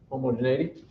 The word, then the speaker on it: homogeneity: tests the first one is i think it's pronounced homogeneity for sure homogeneity and basically what we're going to do is